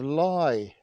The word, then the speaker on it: Leigh: we're at the pretty Village of lie in Dorset and it's one of those Village names that's pronounced a little bit differently to as you would expect if you were reading it as it were anyway it's located about